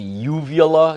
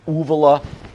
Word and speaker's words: uvula: Some people refer to it as the uvula. Some people refer to it as the uvula. As a kid growing up, we always called it the uvula. I've heard it pronounced both ways. It doesn't matter.